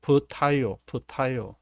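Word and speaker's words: πταίω: 나오게 되는데 이렇게 뒤에 밑에 이렇게 발음도 나오게 되고 퍼타이오 그래서 퍼타이오라는 이 말이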